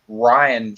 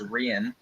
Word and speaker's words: Rian: Also, unlike everyone keeps saying Ryan Johnson, it's not Ryan. It's spelled with an I, so it's Rian.